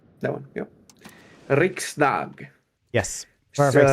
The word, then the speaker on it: Riksdag: Riksdag. Yes, perfect pronunciation.